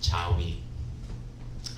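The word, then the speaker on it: 자위: Jill alike phonetically is chawi phonetically it's kind of like you're saying yes and yes yes in two European languages another yes yes is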